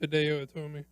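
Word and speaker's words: Hideo Itami: I believe it's pronounced Hideo Tomi.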